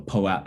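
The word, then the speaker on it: POAP: of attendance protocol um a po app or p-o-a-p depends how you say it um in one of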